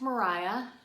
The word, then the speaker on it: Maria: And it is pronounced Mariah. So the street where you might say Maria Street, it's Mariah Street, named after Mariah.